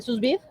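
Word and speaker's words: sous vide: Lo vas a pronunciar. Es esto del de la cocción a al vacío. Al susbit.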